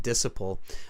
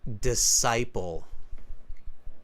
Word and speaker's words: disciple: I think you said disciple. It's disciple. Yes, sir. Can you pronounce that word for me?